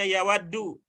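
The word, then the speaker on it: يود: Nanti kalau kita menemukan kata begini, ada ya, ada waudal, walaupun tidak ada barisnya, nanti bacanya yawaddu. Kecuali kalau didahului oleh an atau lan akan berubah bacanya menjadi an yawadda atau lan yawadda.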